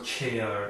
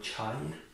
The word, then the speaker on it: chair: خب یعنی با بعضی تلفظ ها چیر میگویند با بعضی ها چایر. خب درست‌تر چیر.